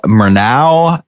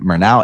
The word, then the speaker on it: Murnau: um this symbol for mernau enterprises is that's how it's pronounced right murnau right yeah like the director right yeah okay that's